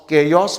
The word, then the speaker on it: chaos: तो प्रोनाउंसिएशन है केओस। कुछ लोग योस केओस बोलते हैं, इट्स नॉट केओस, इट्स केओस, केओस।